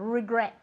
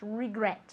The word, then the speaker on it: regret: okay very good and remember that the pronunciation of regret is like r and that's very short and even like an eye sound regret regret okay very good are